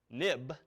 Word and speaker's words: xib: application now but also this xib file pronounced of course nib and IB for historical reasons when as soon as the nib file became an XML file they renamed it XIV but we still say nib now notice nib or